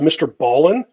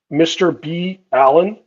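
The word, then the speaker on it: MrBallen: The podcaster, I think it's pronounced Mr. Ballin, Mr. B. Allen, but I think it's pronounced Mr.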